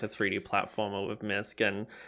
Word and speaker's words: Misc: Because I think, I'd say the way I would classify Misc is like a 3D, is Misc the right way to say it?